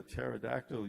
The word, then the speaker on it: pterodactyl: Why can't you hear the pterodactyl use the bathroom? Because the P is silent.